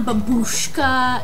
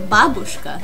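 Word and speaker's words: бабушка: no no it's not babushka it's not babush kay i don't know what you would say it's babushka in russian here we put the stress on the first syllable so say it with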